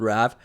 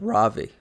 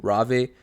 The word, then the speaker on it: Raave: boys this whole time i was thinking it's called rav but it's called ravi i have not seen this video yet this is a first time reaction the pronunciation of the platform is actually ravi really cool the way